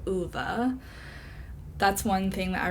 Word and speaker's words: Ove: I listened to it on audiobook, which is probably great that I did because I would have pronounced it Ove instead of Uva.